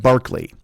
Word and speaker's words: Berkeley: But the guy's not named George Berkeley. He spells his name George Berkeley, but you pronounce it like Barkley.